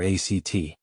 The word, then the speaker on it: ACT: Tonight we explore a deeply compassionate and empowering approach to mental well-being known as acceptance and commitment therapy or act pronounced just like the word act.